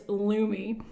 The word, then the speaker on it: Lume: this video because I didn't know how to pronounce it. It's Lumi.